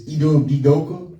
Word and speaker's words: Udoka: It's Udoka. Udoka.